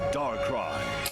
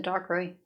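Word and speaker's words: Darkrai: Pokemon the rise of dark cry. Dark cry. Thank you. Now I know. I always say it wrong. I always said dark ray.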